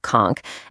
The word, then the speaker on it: conch: So the national dish is kunchch and yeah you say it like conchk and you absolutely have to try the kunchch salad.